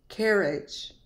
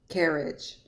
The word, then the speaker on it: carriage: not carrots it's carrots Carriage the G makes a j sound notice to the right you can see phonetically there's a j the G becomes a j sound because it's followed by an e Carriage AR usually says